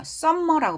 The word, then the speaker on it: summer: summer라고 발음 안 해요. summer 아니고요. summer. summer. 자, 여러분, 눈에 보이는 철자는 m이 두 개지만 발음상으로는 m이 하나예요. 발음 기호는. 가죠. summer. summer 아니고 summer. 앞에 액센트 있어요.